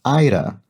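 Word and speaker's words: Éire: a small correction, the word that I incorrectly pronounced something like ire yesterday, E-I-R-E, a name for Ireland, this person says, is actually pronounced Ira, like its crosswordese counterpart Aaron, but without the N.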